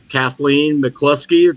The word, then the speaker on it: Kathleen McCluskey: I'm having a guest a fellow author uh Kathleen mclusky did I pronounce that right yes you did very good